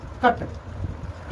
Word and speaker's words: cut: यू टी जोड़ दे तो उसका उच्चारण अट होता है। क्या होता है? अट। जैसे देखना कट ए से लेकर एन तक के बीच में सी आता है। तो सी का क्या होता है बाबू? का और इ क्या है? यू टी। इसमें क्या जोड़ देंगे? अट। तो ये क्या बन जाएगा? कट।